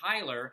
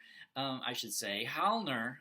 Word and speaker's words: Heilner: other person named Hermann Heiler, and Heilner, I think is how it's more closely how it's pronounced, is sort of this